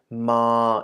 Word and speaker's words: ม: first of all pronounced so ma is a middle tone the actual consonant ma